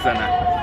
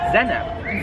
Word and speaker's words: zene: So you say it like zene. Zene. Zene. No, no, no, just zene.